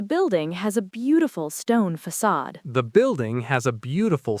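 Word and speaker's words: façade: That little tail is called a sadilla. And it tells you the C makes an S sound. The stress is on the second syllable. We say facade.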